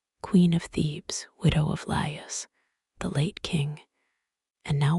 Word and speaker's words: Laius: Laius, pronounced as 3 syllables, Laius, the last king of Thebes before Oedipus.